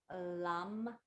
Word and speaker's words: lam: is the Dharma chakra the syllable is LAM with an L Like Larry Lam As you move your